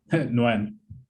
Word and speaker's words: Nguyen: So if you can get creative, I always forget how to pronounce it. Your name, is it? It's just Nguyen.